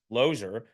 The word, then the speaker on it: Losier: certificate to this day my last name says l o e r it's loser loser and so uh my parents say and my grandparents say that it was always pronounced ler but you couldn't tell